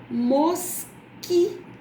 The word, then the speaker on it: mosquito: Veja, na palavra mosquito. Mosquito. Você ouviu o som da letra U? Não. Então, nesse caso, QU é dígrafo.